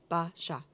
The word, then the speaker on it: Basia: And before we go any further, Basia, I'm always concerned about how I'm pronouncing your name. Basia. Basia.